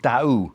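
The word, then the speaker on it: Dau: It's an area called Da, which is spelled D- Au, and it's a sort of a provincial area, but there's a lovely lovely medical center there called St.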